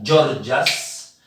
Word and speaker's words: Gorgias: nombre, es el señor Georgas de Leontino. ¿Vas a permitirme que me agache? Se escribe gorgias, se pronuncia georgias de leino, a quien